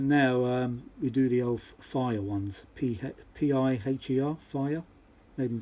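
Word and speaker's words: Piher: So if you need to change them, put the fire ones in. P-I-H-E-R. I think that's how you pronounce it. Fire, but not spelt fire.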